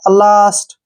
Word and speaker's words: last: जैसे LAST, ठीक है ना, यहाँ पे ए के बाद फिर से ST आ गया, लास्ट। अब जैसे BASK, ठीक है ना, बास्क, ए के बाद फिर से SK आया है।